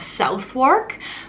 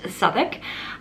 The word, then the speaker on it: Southwark: it's located in an area of london called southik which looks like it's pronounced southwark but it is actually pronounced southwark and i highly recommend that you go and